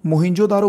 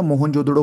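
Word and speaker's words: मोहनजोदड़ो: number पे मोहिं जोदारो देखो मोहिं जोदारो बोलो या मोहन जोदड़ो बोलो कुछ भी जो आप अच्छे से प्रोनाउंस कर सको 1922 में इसकी शुरू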